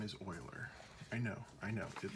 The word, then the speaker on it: Euler: the dude's name is oiler i know i know it looks like you or it's not it's oiler he's he was swiss okay so the swiss have different ways of pronouncing things so just understand when